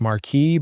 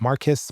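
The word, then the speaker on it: Marques: is difficult to say, it's Marque, but we get Marcus, Marquis all the time. Uh I can record the correct correct pronunciation of my name. The S is silent.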